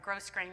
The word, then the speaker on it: grosgrain: 30 meters of grosgrain ribbon or gross grain ribbon i'm not sure how you say it i say it grow green ribbon now if you don't